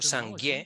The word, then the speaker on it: Sangye: Sangye en tibetano es un término muy interesante porque Sang, la primera sílaba de la palabra, Sangye tiene dos sílabas.